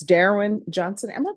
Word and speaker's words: Darren: All right, Miss Ferguson, on this case, if you can recall it in 30 days, it's Darren Johnson. Am I pronouncing your first name correctly? Darren, your honor.